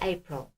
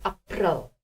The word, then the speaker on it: April: How do you say April in Afrikaans? You spell it the same, but you say April. April. Okay, say it, April.